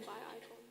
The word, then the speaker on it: Bicon: Bicon is in by icon.